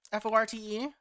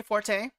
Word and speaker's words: forte: what I wanted no the word um f o r te came in English from two different languages so in different context that they they are technically pronounced different ways there's it's not my fort which some people still say Forte uh that's come from French and then Forte as in the the the musical term for getting louder is